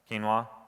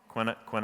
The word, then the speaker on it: quinoa: pick a horrible example quinoa quinny-quinn oh ah that's how I used to pronounce it before actually heard somebody say it so quinoa uh